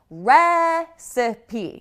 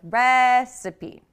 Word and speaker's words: recipe: Then we have recipe. You can see right away that the stress is very different. It's on the first syllable with recipe.